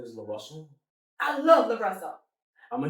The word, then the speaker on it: LaRussell: I want to pronounce his name right. His name is LaRussell.